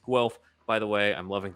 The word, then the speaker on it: Guelph: correct in his first and last attempts it's pronounced guelph by the way i'm loving these shows keep